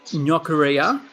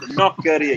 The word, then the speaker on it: gnoccheria: So, Ben, you own what's called Australia's first gnoccheria. Is that how you pronounce it? What does it mean? Yeah, that's very good pronunciation, Ricardo. So it's gnoccheria. You really have to roll it.